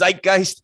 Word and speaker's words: zeitgeist: how to pronounce zeitgeist there's only one way to pronounce zeitgeist and it's zeitgeist so zeitgeist kick kissed